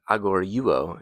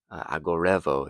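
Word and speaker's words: ἀγορεύω: And then the second part from the verb agoriuo, if you're using an Erasmian pronunciation, or agorevo, if you're using modern pronunciation.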